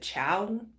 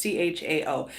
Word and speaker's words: Chao: and Transportation Secretary Elaine, is it Chow, implemented it. I'm not sure how it's pronounced. I'm not sure how to pronounce her last name. It's Chao.